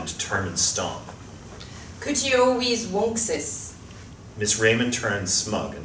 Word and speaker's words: Uncas: What I said was that Uncas' name is correctly pronounced Wonksis, which means fox in English.